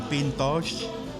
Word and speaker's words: Pintxos: We're in PINTXOS. That's how it's pronounced.